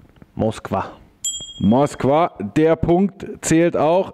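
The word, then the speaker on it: Москва: der zu eurem viertelfinalspielort auf Russisch ausgesprochen moskv moskv der Punkt zählt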